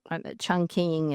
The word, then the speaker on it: Chongqing: Life magazine China correspondent reported that it was tasked to defend half of China from Chongqing Chongqing is how it's how it was pronounced then uh to Changdu as far north as the Solowine River and as far west as Tibet.